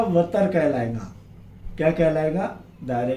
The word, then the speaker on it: وتر: अब इसके बाद देखेंगे हम दायरे का वतर। वतर, वितर, सही प्रोनाउंसिएशन उसका वतर है।